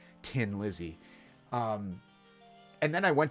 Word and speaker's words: Thin Lizzy: I'm trying to pronounce it correctly for the Irish out there. Tin Lizzy.